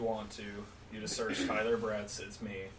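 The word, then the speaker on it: Bretz: to you know Senator Brad sits me with a Z yeah BRE TZ it's as German as you can get with a single syllable I always lie when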